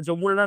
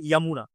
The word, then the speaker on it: যমুনা: বলি সবাই আমরা ওটা যমুনা না আসলে উচ্চারণটা হবে ইয়ামুনা ঠিক আছে মনে রাখা